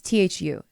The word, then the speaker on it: Thu: hi my name is two i think it's that's how you say it it's t-h-u thu or two it's two i think two yeah two i love the podcast